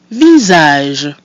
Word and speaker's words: visage: Visage. Visage. So our I is pronounced I, the letter A is pronounced A, and the mute I at the end is silent, giving us visage.